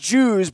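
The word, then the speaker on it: Djoos: up a whole lot DJ o OS pronounced Jews but you see that D there and you say who's that dude right not to mention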